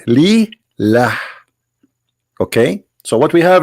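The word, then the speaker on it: لله: The first one pronounced as Allah. The second one it says Lillah.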